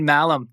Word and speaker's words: Mahlum: All right, guys, I've got Mahlum, the founder and CEO of solidcore. Anne, welcome to the show. Wow, you pronounced my last name correctly.